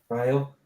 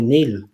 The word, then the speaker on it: Niall: Well, Kam, what's my name? Niall. Yeah, well, English people have a problem with that too. They call me Neil.